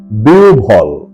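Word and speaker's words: বিহ্বল: এবারে 49 নাম্বার মূল শব্দ বিহবল সঠিক এবং শুদ্ধ উচ্চারণ হল বিউভল বিউভল এবারে 50 নাম্বার মূল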